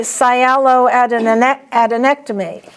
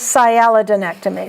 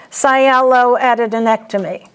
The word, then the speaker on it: sialoadenectomy: So I think this should be sialoadenectomy. But your book says sialodenectomy. So let's say sialoadenectomy.